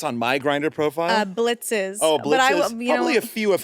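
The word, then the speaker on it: Blitzø: Okay, we have Blitz. Blitz. And the O is silent. I'm sorry. I am such a fake fan. Blitz, what is Blitz posting on Craigslist?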